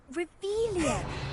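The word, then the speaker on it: Revelio: You're saying it wrong. Ugh, Revelia. Much better.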